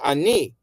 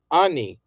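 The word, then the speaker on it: אני: We're used to saying ani in modern Hebrew, but this is properly pronounced chai ani Ne'um Adonai, and the trope tells you that.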